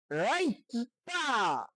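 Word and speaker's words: writer: যেমন আসছে ডব্লিউ আর আই টি ই আর, রাইটা। রাইটা শব্দের অর্থ হচ্ছে লেখক। এখানে দেখেন ডব্লিউ উচ্চারিত হয় নাই।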